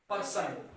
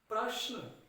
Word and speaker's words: प्रश्न: ज्यादातर हम उच्चारण करते हैं पर्सन कि आज सर, आज अध्यापक ने मुझे पर्सन दिए हैं। पर्सन, पर्सन नहीं होता, प्रश्न। क्या होता है बेटा? प्रश्न।